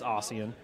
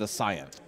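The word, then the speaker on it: Aiyana: think I think aan is it aian or oan it's aian aian Souls always pronounces it aan Souls does a lot of things but it's aian it's aan yeah okay but I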